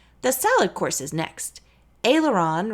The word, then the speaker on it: aileron: salad course is next aileron rhymes with sailor John and comes from French serve the ailerons with